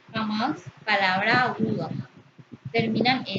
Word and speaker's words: jamás: Jamás se pronuncia con mayor intensidad en la sílaba más, la última sílaba. Jamás, palabra aguda.